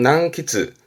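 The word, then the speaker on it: 難詰: 발음은 난키즈.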